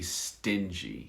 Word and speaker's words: stingy: a b stings you that's with a hard g sting sting but if you want to give the adjective of a person stingy so a sting a bee sting and a person who's stingy very good very good